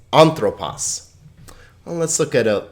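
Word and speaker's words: ἄνθρωπος: say right now that you'll notice that the syllable that has the accent over it will get the emphasis okay so it's anthropos well let's look at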